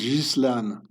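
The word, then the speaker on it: Ghislaine: The UBS, the bank managed up to 19 million for Epstein's business partner, Jizlan Maxwell. So, this name is being pronounced Jizlan. It's an old medieval French uh name, Frank name.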